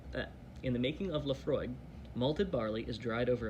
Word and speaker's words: Laphroaig: eyes and imagine the way the waves lapping Laphroaig the beautiful hollow by the broad bay so